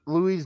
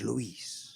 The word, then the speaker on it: Luis: Oh shit, we got Louise Money in the chat. Welcome. Oh no! But no, I was saying that Luis, say say it properly. It's Luis.